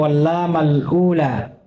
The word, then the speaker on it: واللام الأولى: Salah penempatan itu dhammahnya. Iya. Karena dhammahnya di sini wallahu taala alam diletakkan di lamnya, harusnya diletakkan di alifnya. Jadi cara bacanya wallamal ula.